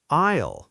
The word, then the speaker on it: aisle: It's spelled Aisle, but the S and the L are completely silent. We say aisle, like aisle, but with an A sound at the front.